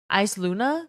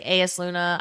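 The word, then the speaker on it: Eyasluna: It's pronounced Luna. Ice Luna, the hand cannon gunslinger. A lot of people say AS Luna, Ice Luna.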